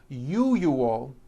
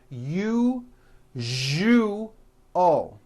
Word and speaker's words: usual: are very very common if you are someone that pronounces the word usual as you you all i'm telling you you are not being understood let me show you how to pronounce the word usual correctly break it up into three syllables you ju o that second syllable zhu the one with the underline needs to be voiced put your hand on